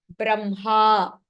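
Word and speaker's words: ब्रह्मा: Now, the only exception in pronunciation would be in type 4, where hakaraha is followed by the Anunasika aksharam. The Anunasika aksharam is pronounced first. Brahma, vanhihi, grinhati.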